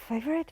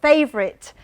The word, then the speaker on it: favourite: Favorite. Yeah. A lot of people do pronounce it favorit. Yes. Do you remember one day? I'm sure some of you did pronounce it favorit, but changed immediately.